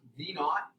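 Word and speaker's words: v₀: it's negative that's gravity v0 is pronounced v naught and that's your initial velocity that multiplies time and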